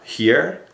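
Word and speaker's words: hier: And it's spelled H R H I E R here. And it sounds like just the English spelling of H E R E.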